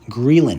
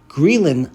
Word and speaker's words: ghrelin: about it in terms of our appetites is grilling that's spelled g-h-r-e-l-i-nreeland so I mentioned that leptin tells us to stop eating greylin lets us know when we should start eating